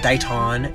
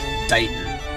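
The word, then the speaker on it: Taunton: dayton here in massachusetts we get a little bit lazy with the taun it's not daiton it's dayton all right number three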